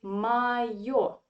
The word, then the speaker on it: моё: The same story with the form in neuter gender. We say моё, моё.